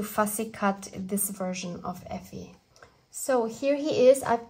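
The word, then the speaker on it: Ephy: And his name is kind of like a short form of ephemera, so Effie, and it's spelled E-P-H-Y.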